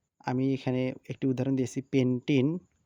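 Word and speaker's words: pentene: এটির উচ্চারণ হবে কি পেন্টিন পেন্টেন না হয়ে এখন এটার উচ্চারণ হবে কি পেন্টিন কারণ এখানে একটি কি আছে দ্বিবন্ধন আর এই দ্বিবন্ধন থাকলে আমরা উচ্চারণ করব কি নামের শেষে ইন এবং এখানে যদি আমরা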